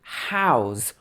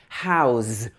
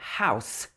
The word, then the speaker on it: how's: so we just say house watch the pronunciation of this because it's ends with a z sound it's not house that's what we live